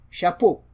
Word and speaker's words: chapeau: So this is pronounced as sh, sh, sh. As in champagne.